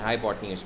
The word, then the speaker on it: hypotenuse: This is the spellings and this is the pronunciation. हाइपोटेन्यूज we call that longest side is हाइपोटेन्यूज.